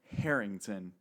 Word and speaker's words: Harrington: out that it's Honor Harrington that you have to pronounce the h in their last name so this is the